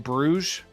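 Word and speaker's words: Bruges: stuff he's in in I think it's in Brugge is how to pronounce it really good movie you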